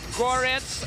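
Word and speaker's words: Горец: republic, from Makhachkala, named Gorets, and in English it means Highlander. And actually The theme song of his entrance is about that fight club, Highlander. In Russian, it's pronounced like Goret.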